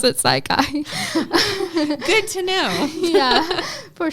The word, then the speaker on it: Psi Chi: It is We do pronounce it Psi Chi.